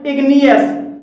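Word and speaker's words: igneous: तीसरा हमारा अपवाद है इग्नियस, इसमें इग्नियस में जी के बाद एन आया है और यहाँ पर जी साइलेंट नहीं है।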